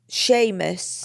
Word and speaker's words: Seamus: Sheamus. I think it's pronounced Sheamus, but it looks like it's spelled Seamus cuz I did that wrong cuz it's Irish, isn't it?